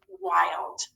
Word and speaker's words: wild: It has a long vowel sound, like in the word wild. The I-L-D says ild, or long I, instead of short.